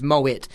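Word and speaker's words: Moët: of them are wrong it's moit cuz it's it's a French champagne but it's dutch wine makers so they pronounce the hard tea Moet your on how it's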